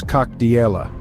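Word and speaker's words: Как дела: In Russian, you would say "Kak dela," which translates to "How are you?" It is pronounced as "Kak diela."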